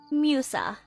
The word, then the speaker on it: Musa: I mean, it is kind of funny because in Italian, her name is pronounced Musa, because that's just how Italian letters work.